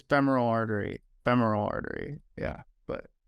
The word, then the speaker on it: femoral: that I think it's femoral artery femoral artery yeah but f e m u r a l I think it's or I am but uh spell check says